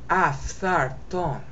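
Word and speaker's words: ἄφθαρτον: Tha, tha, tha. Think of FTH. Tha, okay? Aftharton.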